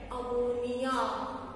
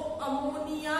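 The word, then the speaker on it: ammine: अमाइन का spelling होता है AMINE, सिंगल M आता है, ठीक है? इसमें डबल M आ रहा है, इसका नेम होगा अमीन.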